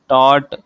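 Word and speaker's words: taut: यहां पर आपको कौन से लेटर साइलेंट मिल रहे हैं? लाइट बोल कर देखिए। लाइट। ठीक है? Tight टॉट। तो यहां पर आपको जी और एच जो है वो साइलेंट लेटर्स की तरह सुनाई दे रहे हैं।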